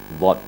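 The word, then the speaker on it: ض: kita konsentrasi yaitu huruf dhad dhad ini huruf yang terberat cara pengucapannya jadi cara mengucapkannya adalah a dipenuhkan mulut dengan suara dhad kemudian keluar suaranya pada pinggir lidah kanan atau kiri Yaya ya berkonsentrasi pada geraham kiri atau kanan ini sehingganya mengakibatkan pipi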